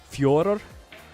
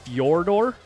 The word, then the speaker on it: Fedor: The best way that I can the best way that I can replicate it is by saying Fjordor. It sounds like Fjordor with like a rolled R on both sides, but it's not exactly like that.